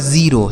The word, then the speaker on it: zero: ludo ठीक है ludo Z ई आर ओ यह लिखा गया दोस्तों आपका जीरो समझ गए ना तो